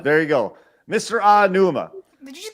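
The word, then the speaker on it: Aonuma: this that right there every vowel is pronounced the same way in Japanese okay so there's no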